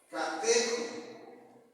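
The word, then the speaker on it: κατέχω: Retener también viene de una palabra griega que significa, se pronuncia catejo.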